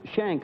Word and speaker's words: Shenck: in railway next is mr chuck uh it's pronounced shank i understand that's right phil all right chuck shank a breakman from harrisburg pennsylvania well you're on